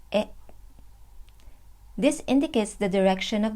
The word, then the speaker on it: へ: The pattern is place followed by the particle e, which is a hiragana he but pronounced as e.